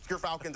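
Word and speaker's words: Gyrfalcons: But Gerfalcons, everyone, so anyone who mispronounces it, that's how you say it.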